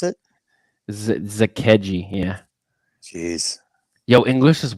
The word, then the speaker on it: Zakelj: His name, it's Zakeji for a nice breakdown. Thank you, dude. Appreciate That's how you pronounce it? Zakeji, yeah.